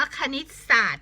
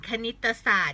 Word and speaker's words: คณิตศาสตร์: ทำ ไม่ ชอบ คณิตศาสตร์ เขา อ่าน ว่า คณิตศาสตร์ ก็ ได้ หรือ บาง คน จะ อ่าน คณิตศาสตร์ ก็ ได้ ตอน นี้ ก็ ตอน นี้ เขา อนุโลม ให้ อ่าน ได้ 2 แบบ นะ คะ ใคร นิต